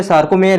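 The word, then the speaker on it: sarcomere: और इसका तो आंसर है सारकोमेर है। तो लिखने में प्रॉब्लम हो सकती है। तो सार्कोमेर सारकोमेर की मैं स्क्रीन स्पेलिंग है वो एस है आर सी ओ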